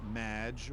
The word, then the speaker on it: Maginot: It's Madge, which rhymes with badge.